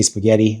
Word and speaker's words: spaghetti: We kind of blur it all together, but it's spaghetti, right? So you give it that that that T a bit of an extra or the double t extra weight.